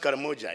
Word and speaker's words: Karamoja: supposed to be in karamoja but the third pronounced carmoja he said cannon then they went to canaan